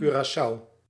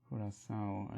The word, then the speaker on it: Curaçao: Curaçao. Ah, that's how I pronounce it. Curaçao, as in German. How we pronounce the same.